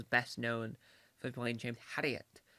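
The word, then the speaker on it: Herriot: known for play James haret which is how I pronounce word haret J to the I'm trying to make sure I'm not say Harriet it's haret har um in all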